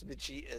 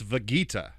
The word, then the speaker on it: Vegeta: he told rustage that fable said it's vegeta with the hard g and russia said fable is incorrect it is definitely vegeta and yeah dan ended up recording the verse saying vegeta with a hard g instead of vegeta and